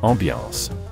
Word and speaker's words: ambiance: Yes, ambiance. Actually, aside from the A or E in the spelling, the word was borrowed directly from the French term that Jack said but was anglicized with